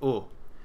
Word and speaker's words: eau: doing water today so water in French is O um you can think of a gill like a gorilla and say o